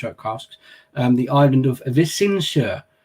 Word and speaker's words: Visingsö: casks, the island of Visingsö, which is my more or less spot on, if I do say so myself, pronunciation of it. But it's not bad, Mick, right? Yeah, but Visingo is how I said it, because that's how I read it before.